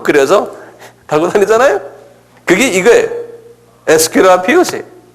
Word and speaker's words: Aesculapius: 에스큐라피우스.